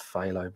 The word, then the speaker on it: phthalo: I had trouble pronouncing that when I first started. Pthalo blue, but we all know it's phthalo blue.